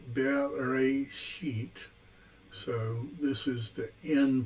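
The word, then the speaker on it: בראשית: Pronounced Bereshit.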